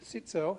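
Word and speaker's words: Cziczo: Uh we've already got an agreement from uh Professor Dan Sitso, that's how he pronounces it, uh to come and talk about how the atmosphere affects climate change.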